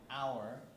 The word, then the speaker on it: hour: I say but here I say an hour because there's no h when you say it right so we have